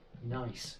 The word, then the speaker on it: gneiss: And how do you pronounce Nice.